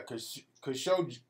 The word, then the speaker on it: Khashoggi: Yeah, Khashoggi. You got to pronounce both G's.